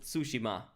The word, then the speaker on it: Tsushima: way if you don't I mean sushim that's apparently how it's called it's ghost of sushima now I know how to pronounce it and this is